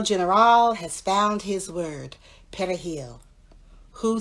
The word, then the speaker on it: perejil: So Haitians would pronounce the word as P E W E R I L And in Spanish, there's the rolling perejil, which I can't roll my r's the perejil.